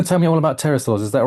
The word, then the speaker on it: pterosaurs: Rob, why can't we hear when terasaurs go to the toilet? Uh, is it cuz the pee is silent?